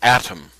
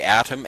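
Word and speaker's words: Atum: The the atom symbol formed by thought is another Egyptian god called atom. Adam is spelled a tu m and was called the complete one, the finisher of the earth.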